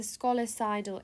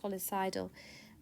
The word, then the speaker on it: scolicidal: saline is important because it's golicidal it's a scolicidal agent if that's how you say it so s-c-l-s-c-o-l-i-c-i-d-a-l it's colicidal which means it can kill and destroy these